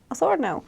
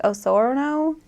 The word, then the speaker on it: Osorno: Osorno. I think I pronounce it like Osorno, something gringo, but it's okay because it